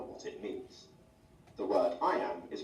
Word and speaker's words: iamb: way to remember what it means the word I am is pronounced just like the phrase fine now let's